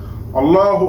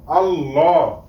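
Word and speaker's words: الله: লাম খারা জবর ল আল্লাহ হা পেশ হু আল্লাহু বন্ধুরা আমি এখানে আল্লাহু বলি নাই কেননা আল্লাহ নামের লামের ডান পাশে যদি জবর অথবা পেশ হয় তখন ল উচ্চারণ হবে মোটা করে আল্লাহ হবে না এই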